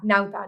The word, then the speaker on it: Nauta: I need Nauta," or how do you say it? Yeah, Nauta, not as perfect.